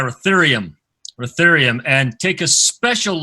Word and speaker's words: ruthenium: Ruthenium, is that how you say it? Yeah, Ruthenium.